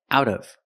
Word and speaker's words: out of: the prepositions out of out of pronunciation out of the T changes to a fast D out of she's pulling